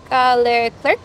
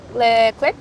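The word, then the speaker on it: Leclerc: race last year yeah yeah my it's Charles cler is that how you pronounce his name Charles Le cler Oh Charlotte Clair yeah yeah Charlotte CL still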